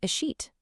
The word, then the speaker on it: escheat: Well, there's a legal process for that exact situation, and it's called a sheet. Yeah, I know. It's spelled E S C H E A T.